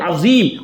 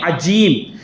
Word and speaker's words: عظیم: وہ ہے عظیم, اور لوگ پڑھنے والے جن کو مخرج اور تلفظ نہیں آتا وہ پڑھ رہے ہیں عجیم.